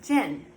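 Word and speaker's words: jinn: going to talk really quickly about what are gin so they are spelled j-i-n-n or d-j-i-n-n um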